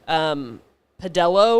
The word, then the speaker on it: Pedalo: Pedello or Pedalo is another one of those. It's Pedalo. Pedalo?